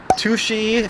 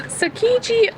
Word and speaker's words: Tsukiji: it right here below, because the subway kind of said like sushi, but I know that's not right. We all know that's not right. So Tsukiji Market, which I believe is how you pronounce it, is first and foremost